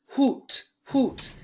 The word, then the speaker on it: hoot: in English yes and we spell that like this hoot hoot and this is the ooh sound but then the word